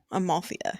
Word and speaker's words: Amalthea: Amalthea, yeah.